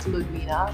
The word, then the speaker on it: Ludwina: okay my name is uh my name is ludwina but i always go with i know